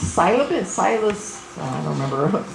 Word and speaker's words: psilocybin: And something that's working really well for anxiety and depression is, I think it's psilocybin, I don't remember, psilocybin, okay, somebody out there pronounced it right.